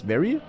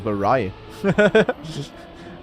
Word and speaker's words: vary: It's very. Oh, it's very. Oh, I didn't know. I thought it's a vari.